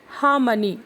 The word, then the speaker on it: harmony: हार्मनी या हार्मनी इसका pronunciation नहीं होता है। इसका करेक्ट प्रोनाउंसिएशन है हार्मनी।